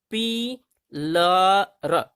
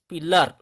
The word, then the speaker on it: pillar: जब किसी शब्द के अंत में AN, AR, AL, ANT, ANCE हो तो वहां ए का आवाज जो है, ए का उच्चारण आ होता है।